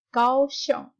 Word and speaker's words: Kaohsiung: Kalian harusnya baca G aja dibaca K. Jadi bacanya adalah Kaohsiung. Kaohsiung.